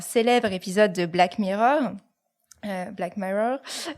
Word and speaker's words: Black Mirror: épisode de Black Mirror Black Mirror si on le prononce à l'anglaise qui est une série